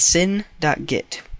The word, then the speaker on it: cin: To fix this, use the command sin.get, which is pronounced cin.get, and then a set of parentheses.